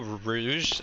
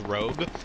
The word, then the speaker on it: Rouge: a friend um who would would refer to Rouge from Sonic Adventure 2 as Rogue and and he would always be like her